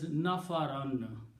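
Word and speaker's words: نفرًا: Okay, and whenever we write two fathahs, we always write an extra alif with that. That's the convention. Okay, and it is pronounced as nafaran.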